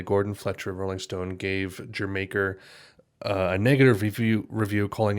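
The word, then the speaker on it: D'yer Mak'er: so here's okay so apparently it's pronounced like in an english accent saying jamaica so like jamaica jeremiaker i think that's how you say it um apparently that's like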